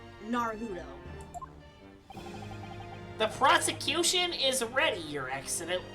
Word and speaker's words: Naruhodo: Is it, how do you pronounce his last name? Naruhodo. Naruhodo.